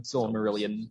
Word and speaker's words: Silmarillion: Silmarillion.